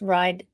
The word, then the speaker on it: Wride: There's a W at the beginning of ride. So it does kind of rhyme with thrive, ride, but you can rearrange the letters to say weird.